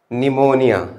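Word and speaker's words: pneumonia: तो पहला है वर्ड निमोनिया, आसान वर्ड है, कोई बहुत मुश्किल नहीं, निमोनिया। चले भाई निमोनिया की स्पेलिंग लिख के दिखाएं। तो निमोनियम पी साइलेंट होता है, राइट अच्छा।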